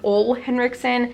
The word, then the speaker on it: Ole Henriksen: Biola Henriksen I know some people pronounce this I think ole henriksen I like Olay Henriksen so that's what I'm